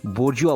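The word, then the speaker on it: bourgeois: यू आर जी ई ओ आई एस इसे बजुआ बोलते हैं हमेशा ध्यान रखिएगा नेक्स्ट वन वन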